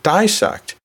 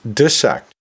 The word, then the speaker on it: dissect: Now, I've been using the pronunciation dissect, but you might use the pronunciation dissect. And you know what? When you look in the dictionaries, even the medical dictionaries, you will see that both terms are, or both pronunciations I should say, are acceptable.